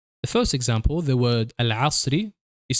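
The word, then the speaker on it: العصر: We note here that the lunar lamp letter always remains pronounced, if it appears at the beginning of the word or if it is preceded by a letter.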